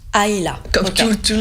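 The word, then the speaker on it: Islay: s'appelle a AA voilà ça s'écrit i s l a y mais ça se prononce aïa comme tout tout le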